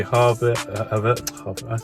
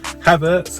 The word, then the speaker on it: Havertz: So hopefully Havertz. I went the whole video with pronouncing his name right at the end. I got it wrong. Havertz. Hopefully, yeah, like a farmer, he's gonna harvest.